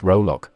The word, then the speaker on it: Rollack: peter rolac sometimes pronounced rolok was born in 1975